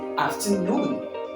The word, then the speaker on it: afternoon: you're pronouncing these words make sure that your voice or the speaker's voice will go longer louder example number one understand